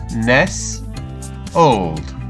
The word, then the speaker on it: nestled: is nestled now let's have a look at how we would pronounce this old and again Ness old that's great so now